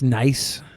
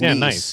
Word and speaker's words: Nice: It's nice, not whatever you said. It's nice. Nice. It's pronounced like It's nice, France.